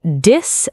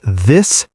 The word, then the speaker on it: this: Many learners say "dis" and "dat". Yes, but the correct pronunciation is "this" and "that". Put your tongue gently between your teeth.